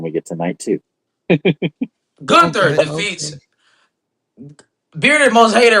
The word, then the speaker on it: Gunther: It's not Gunther. Y'all steady pronouncing the man name wrong. It's Gunther.